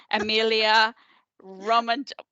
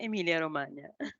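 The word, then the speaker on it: Emilia-Romagna: Regione, Emilia, Romage. Can you pronounce it for me, please? That's Regione Emilia Romagna. Oh, much better.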